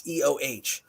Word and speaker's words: Eoh: No, it is EOH, is a long E sound.